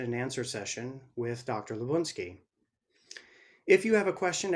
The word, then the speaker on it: Labounsky: My name is Labounsky. Many people mispronounce it, but now you know how it's supposed to be pronounced.